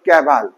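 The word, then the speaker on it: Cabal: সি এ বি এল এটার উচ্চারণ হলো ক্যাবাল তাহলে এই যে পাঁচজন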